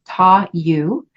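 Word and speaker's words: Ta Yu: in the iching is touu and it's spelled t a and the second word y u so tou the description says possession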